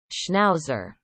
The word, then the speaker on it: schnauzer: okay so those are snob schnauzer so you pronounce it schnauzer okay can you say it huh okay